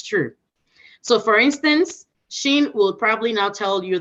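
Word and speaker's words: Xin: them fall under so sheen sheen x i n is short Sheen is Sheen right now for somebody who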